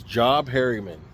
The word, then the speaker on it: Job Harriman: So the guy that started this, his name was Job Harriman. Job Harriman. It's spelled J-O-B, so that's how I'm pronouncing it.